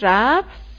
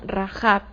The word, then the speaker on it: Rahab: El nombre original de esta mujer no es Rahab, como lo vemos en nuestras traducciones al español, sino Rahab, lo que significa ancha.